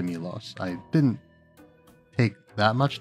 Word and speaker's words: Milos: So yeah, Milos here, I learned, his name is in fact pronounced something akin to Milos.